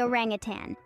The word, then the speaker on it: orangutan: on the planet, the orangutan. Pronounced as orang-utan, these remarkable creatures are a testament to the wonders of evolution.